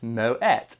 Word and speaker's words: Moët: Moët is pronounced Moët, though it's commonly mispronounced as Moët, because people believe it comes from France.